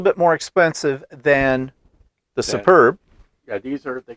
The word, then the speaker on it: Super B: So they call it Superb thread, but actually it's spelled, they actually call it Super B, which is capital SUPER, capital B. So it looks like super. Yeah, Super B on there.